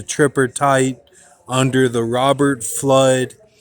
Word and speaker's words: Fludd: tight under the Robert flood spelled with uh a u and an extra D without the double o so in writing and thinking you would say that as without double o u d okay that's how you